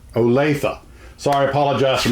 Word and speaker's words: Olathe: where those models came from you said it's olathe olathe olathe sorry apollo justin mispronouncing that and he my brother called tell